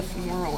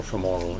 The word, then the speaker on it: femoral: the word deep the femoral artery is that one is added yeah I forgot to add that last time deep femoral or for moral either pronunciation okay all right then